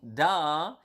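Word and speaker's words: dah: okay so da so with with with prolong a DA with prolong a then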